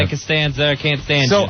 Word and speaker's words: Costanzo: Constanzo. All right, how do you say your last name? Did we say Shot it? 27. It's Costanzo.